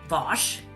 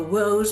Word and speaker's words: Wos: So my last name is pronounced Vosh, Ah, Vosh. A lot of people go woes or woos. It's Vosh. That's okay.